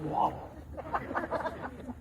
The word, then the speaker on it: Waddell: my marker, Robert Waddell, W-A-D-D-L-E. That sounds like waddle.